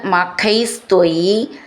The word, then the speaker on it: മഖൈസ്: യജതി മഖൈ ത്വയി ചേർത്തിട്ട് മഖൈസ് ഖ എന്നുള്ള അക്ഷരം നന്നായിട്ട് ഉറപ്പിച്ചു പറയണം ത്രിധാമൻ ആരബ്ധേ ധ എന്നുള്ള